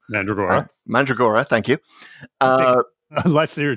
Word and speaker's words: Mandragora: There's one mentioned in Mask of Mandroga, whatever the hell that one's called. Mandragora. Mandragora, thank you. Unless you're Tom Baker.